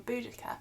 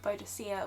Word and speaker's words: Boudica: different pronunciations from but most academics now agree on boudicca as they think bodacia was a mis reading of the previous latin